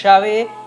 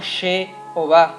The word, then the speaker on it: Yahvé: pero nos indica que se pronunciaba con la A y no con la E. Por lo tanto, no puede ser She, sino tiene que ser Yah. Por eso nosotros usamos Yahvé y no Jehová.